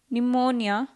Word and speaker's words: pneumonia: and autumn column government silent p cupboard pneumonia raspberry silent tea match watch open